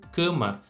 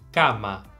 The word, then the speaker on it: cama: que eu quero dizer em português a primeira palavra que a gente tá vendo aí a gente pronunciaria como cama só que na verdade a gente não pode falar dessa forma em espanhol porque a gente não tem esse som não existe a em espanhol nesse caso como o som do a tem que ser muito aberto Então a gente tem que dizer Kama pode ser até um